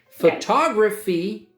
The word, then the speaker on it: photography: You can call it a photo, a picture, or a photograph. You take photos, you take photographs. With my phone. With your phone. Okay. Right? Okay. Photography, 4 syllables. Photography, and the second syllable is stressed, is the study of taking photos.